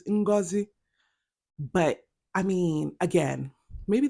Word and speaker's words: Ngozi: Okay, y'all, like as an Igbo, that pronunciation of Ngozi had me cringing. Like I was like, Ngozi, is that Igbo? Like I was shook because if whenever I hear it from family and friends, it's Ngozi.